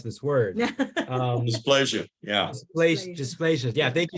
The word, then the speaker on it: dysplasia: support the National Foundation for Ectodermal, I can't pronounce this word. Dysplasia.